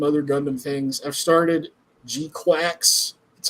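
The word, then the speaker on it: GQuuuuuuX: I've started Gquax. That's how you're supposed to pronounce it. It sounds weird as hell, but that's the way it's pronounced. Uh, I was calling it G-Cox, but uh I'm only two episodes in, but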